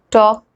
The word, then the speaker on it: talk: the rule first l is not pronounced when it comes after vowels a o and u let's look at some examples to understand this better so the words like calm bomb walk talk almond l is coming